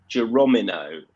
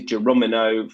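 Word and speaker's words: Geronimo: in the form of jeromino who always catches caught me out a couple of times um just on on pronunciation but it is geromino for brian hughes and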